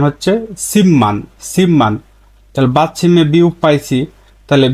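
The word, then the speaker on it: 십만: স্বাভাবিক উচ্চারণ কি সিমান সিপমান কিন্তু এর সঠিক উচ্চারণ হচ্ছে সিমমান সিমমান বাদমে বিউপ পাইছি তাহলে বিউপের পরে মিউম পাইছি তাহলে রুলসের নিয়ম অনুযায়ী বিউপের উচ্চারণ ম হবে বিয়পের উচ্চারণ ম হবে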